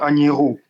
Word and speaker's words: Agnero: Comment on prononce ? C'est Agnerou. Agner euh Agierou.